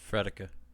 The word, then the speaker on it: Frederica: That's right. I pronounced it right. Fredica.